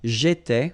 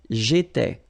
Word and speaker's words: J'étais: J'étais, okay? Remember, here we've got accent aigu, so it goes like et, all right? J'étais.